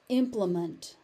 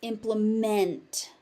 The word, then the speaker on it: implement: So as a noun, it's implement. As a verb, it's implement. Meant.